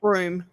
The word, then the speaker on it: Broome: Broom, Broomy? broom. Oh, broom. Yeah, like sweeping.